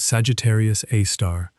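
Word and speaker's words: Sagittarius A*: It is called Sagittarius A star often written as Sagittarius A with an asterisk and pronounced Sagittarius Aar.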